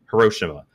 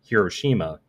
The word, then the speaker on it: Hiroshima: So just as I mentioned, Hiroshima, but then there's kind of the more Japanese way to pronounce it, but still in English, is like Hiroshima. But then there's the Japanese pronunciation, which would be Hiroshima. So, which do I go with? Yeah. But so Hiroshima is like close to the Japanese version, but Hiroshima is kind of like the English version of the city, right?